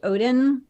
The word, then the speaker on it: Odden: So, well, first of all, just FYI, my last name is pronounced Odden, kind of like the Norse god who ripped an eyeball out of his head in exchange for power.